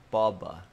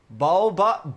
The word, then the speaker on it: boba: Boba? Boba? I'm not saying Boba. Oh, is it like Boba? Is it Boba? Is that how you say it? Boba? That's how you say it, dummy.